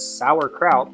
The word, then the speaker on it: sauerkraut: I mean, I know it's sauerkraut way you say it, but it's s a u e r, not s o u r.